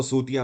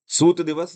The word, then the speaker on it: सूत: यहाँ पर अंग्रेजी में इसको ऐसे लिखा जाता है, तो आप ये मत समझिएगा कि इसको सूतिया बोलते हैं, नहीं, इसका राइट प्रोनाउंसिएशन है सूत दिवस या सूता दिवस, आप ऐसा बोल सकते हो।